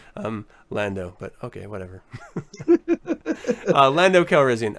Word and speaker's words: Lando: him that we meet lon Lando Calrissian who Nando it's actually pronounced um Lando but okay whatever Lando Calrissian ah tell me